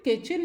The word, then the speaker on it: kitchen: Student, किचन में आप देखेंगे कि अभी तक हमने ये सीखा था कि CH स्टैंड्स फॉर क, लेकिन यहाँ पर CH क हम प्रोनाउंस कर रहे हैं एज च।